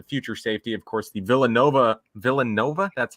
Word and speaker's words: Villanova: Of course, the Villanova, that's how you pronounce it.